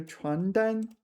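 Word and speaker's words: 传单: not to get here you need to really pay attention to your pronunciation because there's also 床单, 床单. This is bed sheets. 床单, 床单, and the other one was 传单, 传单, and they're completely different things, right?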